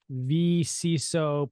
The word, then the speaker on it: vCISO: One exciting thing is you just published a book called the vCISO Playbook. Did I pronounce that right?